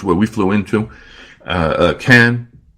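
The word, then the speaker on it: Cannes: we flew into a can don't pronounce it con it's not it's can't then you have central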